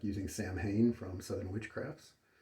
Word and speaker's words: Samhain: Yesterday I was enjoying Autumn Ash from Southern Witchcrafts, and today it's the Samhain. Though correctly pronounced, I believe officially one would say Solween, but I'm just going to say Samhain.